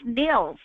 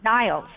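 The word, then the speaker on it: Nils Melzer: His name is pronounced Nils, not Niles.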